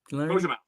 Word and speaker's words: Cozumel: Cozumel.